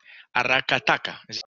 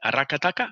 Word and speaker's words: Aracataca: from Magdalena awesome welcome welcome my dear super aracataca did I did I pronounce that correctly aracataca yeah I said all right okay yes yeah